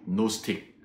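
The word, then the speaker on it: Gnostic: 사람들을 그 노스 이스트 앞에 있는 지는 묵음 이 돼서 노 스틱 0 제주의 를 영어로는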